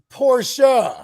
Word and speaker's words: Porsche: It's pronounced Porsche. Porsche, yeah. I get told all the time here. It's called Porsche.